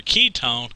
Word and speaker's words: ketone: Now the way that I remember ketone sounds like the word key. It almost sounds the same, And if you look